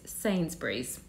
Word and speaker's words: Sainsbury's: I've heard this said all different ways, but it's Sainsbury's.